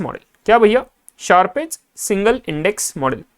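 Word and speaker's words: Sharpe's: And then आता है शार्पेस्ट model. शार्पेस्ट का कौन सा मॉडल? ये सिंगल इंडेक्स मॉडल। अभी क्या होता है देखना, शार्पेस्ट, शार्प्स बोलते हैं इसको, याद है ना आपको?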